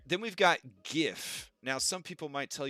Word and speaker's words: GIF: you tried um all right then we've got gif now some people might tell you that it's pronounced jiff and you don't need those people in your